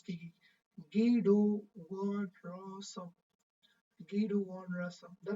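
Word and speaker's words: Guido van Rossum: کې دا د نوم دا رقم د ګوره تلفظ کېږي ګیډو وانرسم ګیډو وانرسم دا د دې د نوم تلفظ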